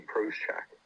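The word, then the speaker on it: Procházka: Yuri Prochak. That's how you say it, Prochak.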